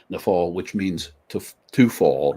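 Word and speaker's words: naphal: verb uh and and the the word is pronounced nafal and the English spelling is n a p h a l nef fall which means to to fall or to fall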